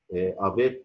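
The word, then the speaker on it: avec: افيك، حرف جر افيك، بنطقها هنا كا اهو في اخر الكلام.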